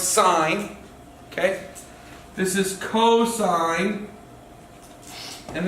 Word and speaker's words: sine: adjacent and what's hypotenuse sine cosine remember this is sine it's pronounced sign okay this is cosine